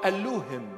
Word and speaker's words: Elohim: this in the beginning Elohim or Alim Alim our way of pronunciation in the beginning Elohim